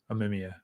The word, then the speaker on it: Amemiya: directed by uh ammamiyah oh really yeah you pronounce his name amamiya ameya okay sorry amemiya and uh i don't know what is it